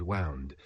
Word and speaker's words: wound: If I need a pronunciation change, such as wound, wound, first wound like past tense of wind, second wound like what you get after you get stabbed just once.